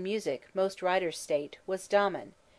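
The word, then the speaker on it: Damon: most writers state was Domon whose name they say should be pronounced with the first syllable short but Aristotle says he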